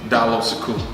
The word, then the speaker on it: Diallo Sekou: people for the pronunciation of your name he pronounce you your government name down low so cool down so cool okay now come on understand